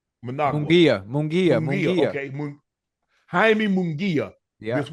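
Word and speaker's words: Munguía: Mungia.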